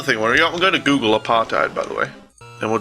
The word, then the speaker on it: apartheid: Really? That's how you say it? Apartheid? Apart, hate, basically.